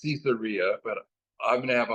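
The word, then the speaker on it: Caesarea: my son has corrected me on how to pronounce cesaria it's cesaria okay he listens to these books on tapes by these persons that know grammar better than I and it's cesaria but I'm gonna have a hard time to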